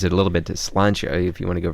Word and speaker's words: Slàinte: health it's the cheers wait is it slancha or Sha Sha is the real way so Keith is showing his sha okay well how are you pronouncing it with an L SLA yeah it's s l a i n t with a couple accents can we just get